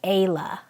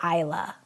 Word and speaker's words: Isla: It's confusing to me because it's spelled with an A. So I say that as Ayla. They say Isla.